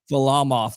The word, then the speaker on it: Varlamov: Go ahead and pronounce the goalie's name again. Varlamov.